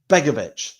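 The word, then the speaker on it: Begović: Begovic. There we go. Get it, a Begovic. It's like, I need to sound like a dog. Signs for us on a 1-year contract. We were discussing, Richie, whether Begovic would or could or should be or not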